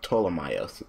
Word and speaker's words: Ptolemaios: No, the P is silent, so it's Ptolemaios.